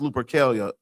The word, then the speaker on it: Lupercalia: It's pronounced Lupercalia. Lupercalia.